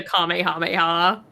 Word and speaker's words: Kamehameha: I don't know why the fuck you call them Nemeks, but The same reason they call it the Kamehameha.